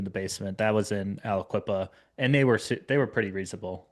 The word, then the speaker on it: Aliquippa: So it's more like municipality based, obviously, but I'm looking towards I can't even pronounce it. Alcapia or whatever it's called. Aliquippa, yeah. Aliquippa. I think they're pretty reasonable to work with.